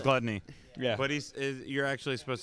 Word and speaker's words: Glutonny: It's definitely pronounced gluttony. Yeah. But you're actually supposed to say gluttony for his tag, right?